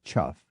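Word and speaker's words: chough: a crowlike bird called the c h u g it's chuff two words in English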